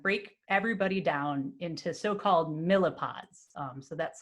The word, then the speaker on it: MLyPod: So what's going to happen is we're going to break everybody down into so-called millipods. So that's how you pronounce this MLE-pod thing.